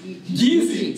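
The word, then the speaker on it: Kissi: Gullah, and the Geechee, it's spelled K-I-S-S-I, but pronounced Geechee, sounds a lot like Geechee, absolutely right.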